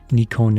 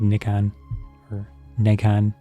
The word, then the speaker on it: Nikon: been the case once Nikon is the Japanese pronunciation from Katakana generally I said I say it Nikon Negan so they're oh in